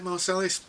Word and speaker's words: Marsalis: Is that how you pronounce his name? Marsalis?